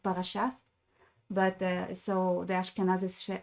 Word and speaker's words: parashat: So this is why, so in Hebrew now we say parashat, because in Hebrew that's spelled with like a T in the end, but it's because it's not with a dot in the middle, it's supposed to be like th, like parashat, but so the Ashkenazis say parashas.